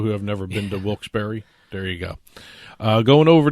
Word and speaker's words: Wilkes-Barre: casino resort up in Wilkes-Barre, Pennsylvania. By the way, in case you ever see it in print, Barry is spelled B-A-R-R-E. And there's a hyphen between Wilkes-Barre.